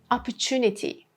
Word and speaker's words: opportunity: Situation B, when we have T plus U sound, like opportunity. Instead of saying opportunity, this T and U becomes chu. Opportunity.